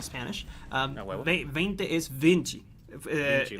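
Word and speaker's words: vinte: Vinci, like Leonardo da Vinci. It's written 20. Vinci. But it's pronounced But it's Vinci.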